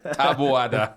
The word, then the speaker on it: Taboada: Bon, Ruben, t'as dit bien mon nom. Ah oui, je le prononce bien? Taboada. Oui.